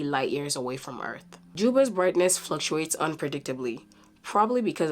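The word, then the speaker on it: Dschubba: And last but not the least, Juba. Yes, I know it's not spelled that way, but that's how it's pronounced.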